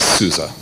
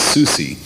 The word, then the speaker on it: SUSE: um but it's pronounced the s's are z's so you technically pronounce it at least that's the way the germans pronounce it i'm not german i simply pronounce it souza uh really to be